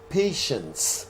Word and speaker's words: patients: The correct answer is there are many patients in the hospital. Patients. And this T-I-E makes the sh sound. So you pronounce it patients in the hospital.